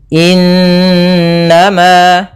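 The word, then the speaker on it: إنما: waqi pada bacaan innama di sini ada Nun berharakat tasdid diwarnai dengan warna hijau ini bacaan gunah cara membacanya surah n-nya ditahan dua harakat innama Nah baru dilepas kemudian Ma ada Mad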